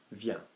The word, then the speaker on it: vient: So instead of v, we're going to have vient. Okay? Now, can I remind you again that we're not going to be saying vienne or anything pronouncing the N hard, because we have no E after the N for the moment, okay?